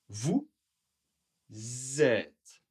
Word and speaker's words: vous êtes: Vous êtes Vous Z êtes la prononciation est un peu comme un Z.